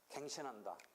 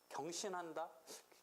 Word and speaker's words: 갱신한다: 그다음에 변론의 갱신은 이 갱신이 한자 이게 경으로도 발음할 때 있는데 이때는 갱이야 갱. 그래가지고 갱신한다, 경신한다, 갱신한다라고 보통 발음해요.